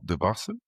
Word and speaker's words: Debase: We're at SA SAP Connect in Las Vegas and we're here with Stan Debas.